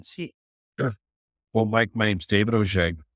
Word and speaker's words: Auge: well mik name's David O It's a French name which means you can the way it's pronounced is nothing like the way it's spelled it's David a u